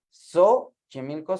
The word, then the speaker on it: Xochimilco: sería México sí pero nosotros la X La pronunciamos Xochimilco es con x a México suena como J o sea Xochimilco suena como a Zeta como J Okay Tienen